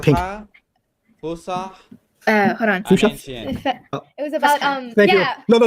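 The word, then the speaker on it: فصحى: Fusa means proper Arabic. Ancient Arabic. You forgot what? And How do you say the name again? Okay. Fusha.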